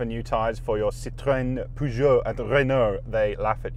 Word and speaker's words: Peugeot: And tell me how you say Peugeot. Peugeot? Yeah, like the girl's name, Peugeot.